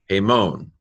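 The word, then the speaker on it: ἡμῶν: Mu omega nu, hemon.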